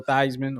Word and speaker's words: Theismann: Yeah, I wasn't really old enough when it happened to Joe Theismann or Theismann, however you want to pronounce it.